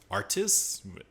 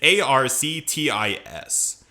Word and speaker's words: Arctis: Artis? Yeah, a lot of these Sith names are hard to pronounce. It's Arctis. Darth Arctis.